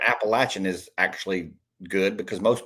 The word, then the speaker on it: Appalachian: So, the fact that you're saying the fact that you're saying Appalachin is actually good because most people say Appalachian, which is hilarious, but yeah. Appalachin State University.